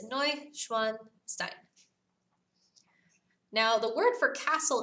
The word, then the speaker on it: Neuschwanstein: for it all right so there's how you spell it I know it's kind of long but it's no schwanstein now the word for Castle in German is